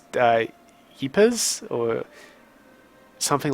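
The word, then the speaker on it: Ypres: I'm going to call it wipers because it's the Australian way of saying, you know, where's the actual There it is. The city of wipers. It's actually pronounced uh yippers or something like that.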